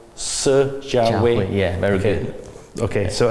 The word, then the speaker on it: Si Jianhui: So how do you pronounce? Si Jianhui.